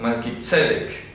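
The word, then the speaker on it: Mélquisedec: Melquisedec, no se dice Melquisedec, sino Melquisedec, tilde en la primera E, para que lo pronuncien correctamente.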